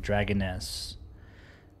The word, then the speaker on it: Dragoness: see so it's 52 Dragon s right is am I saying that right or am I still like way Miss mispronouncing it Dragoness it's small like dragons and girl 52 Dragoness okay uh